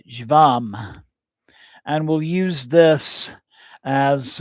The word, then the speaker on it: jvam: And then one final seed mantra that we'll be uh using tonight is the uh the syllable jvam and we'll use this as uh the mantra for beginning our practice tonight.